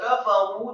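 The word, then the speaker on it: كَفَرُوا: Kata kafaru di sini kafnya fathah satu harokat, kemudian fa-nya dengan gigi seri atas kita ditempelkan dengan bibir bawah fathah satu harokat, kemudian huruf ra yang marfu atau dhamma dua harokat dan dibaca tafkhim tebal karena setelahnya ada wawu sukun.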